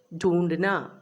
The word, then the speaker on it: ढूंढना: There is a chandra bindu over that word, Hindi word ढूंढना, and there is a dot under dha. That dot is not nothing else, but it's giving a relaxed pronunciation to that letter.